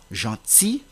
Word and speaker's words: gentil: dire un outil outil c'est de même pour le mot gentil fusi donc la prononciation de la lettre L est interdite cependant d'autres mots se